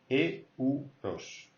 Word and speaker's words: euros: So don't forget, here, euros. Euros, alright? You have to pronounce the E and the U.